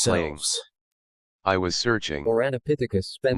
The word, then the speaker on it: Ouranopithecus: It took me weeks just to pronounce it right. Ouranopithecus.